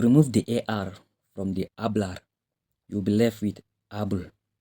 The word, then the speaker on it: hablar: Don't forget, the H is silent. We don't say hablar, we say hablar.